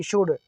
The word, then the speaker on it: should: Next है SHOULD शुड, शुड में D के पहले L आ गया है, D के पहले L आता है तो L साइलेंट।